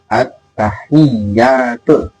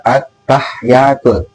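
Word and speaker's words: التحيات: Yang benar itu bukan at-tahiyatul, tapi yang benar itu adalah at-tahiyatul. Jadi huruf haknya itu dikasrahkan dan tasdid kepada iya.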